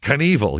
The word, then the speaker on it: Knievel: What is It's going to be Knievel. You know what it is? It looks like it rhymes.